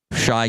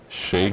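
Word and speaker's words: Shai: Shy Gildress Alexander or Here we go.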